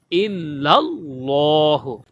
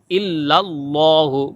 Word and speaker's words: ইল্লাল্লাহু: এই জায়গাতেও ইল্লাল বলা যাবে না, ইল্লাল্লাহু বলতে হবে, ঠিক আছে?